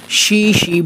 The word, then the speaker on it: Xishi: করে থাকি বলে অনেকে জিসি ম্যাঙ্গো বলে থাকেন কিন্তু চাইনিজ ভাষায় এক্স আই এর উচ্চারণ শি হয় এবং এই আমটাকে চায়নাতে